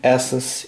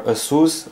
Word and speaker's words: ASUS: So here's the ASUS EEPad Transformer Prime tablet, or ASUS, as some name this brand. Some pronounce this ASUS, some pronounce this ASUS, whatever.